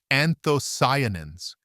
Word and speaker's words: anthocyanins: It's a group of powerful natural compounds called anthocyanins, pronounced anthocyanins.